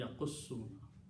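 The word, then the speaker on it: يقصون: But when you combine with these two together with one Shadda, it will be Yaqussuna.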